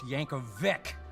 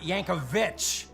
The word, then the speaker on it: Yankovic: My last name is pronounced Yankovic, not Yankovich.